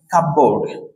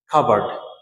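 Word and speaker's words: cupboard: তো আমরা বলে থাকি কাপবোর্ড, কাপবোর্ড। তো মনে রাখবেন এখানের মধ্যে এই যে পি, পি সাইলেন্ট থাকবে এবং এই ওয়ার্ডের উচ্চারণ হচ্ছে খাবার্ড, খাবার্ড, খাবার্ড, খাবার্ড, খাবার্ড।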